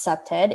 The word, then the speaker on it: CPTED: explore what that means the acronym cpted pronounced septed is defined as a